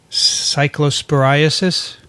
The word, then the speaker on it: cyclosporiasis: did i email you there's an outbreak of cyclosporiasis yes is that how to say it it